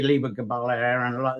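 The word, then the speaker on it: Lebor Gabála Érenn: I say Libor Gabala Aaron. There's many spellings and pronunciations of what that actually is, and it's said to have been first scribed by an unknown scribe.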